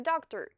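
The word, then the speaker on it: доктор: So as you can see, the stressed O's in these two words are pronounced O, whereas the other ones, which are not stressed and follow the stressed vowel, are pronounced like short A's.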